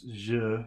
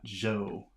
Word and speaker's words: je: je, jo, So it's je, not jo. All right. 47, Listen to the correct pronunciation of the vowel. je, 48, Listen to another right-wrong contrast. je, joue, 49, Listen and repeat the correct pronunciation of the syllable. je, Je, not ju, je.